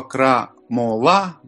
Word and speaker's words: крамола: Но в славянском мире у слова «крамола» – вот тут мы меняем ударение, и у нас получается уже другое значение.